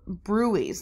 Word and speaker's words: bruit: right for carotid arteries we're gonna auscultate for brew ease and that's I know there's a DT in there but then is not pronounced as bruit you know we have them